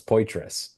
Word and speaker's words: Poitras: I told Rachel DeCecco that his name was Patra, and she told me no, it's Poitras.